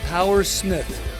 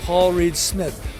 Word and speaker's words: Paul Reed Smith: They call me Power Smith, which is a mispronunciation of Paul Reed Smith.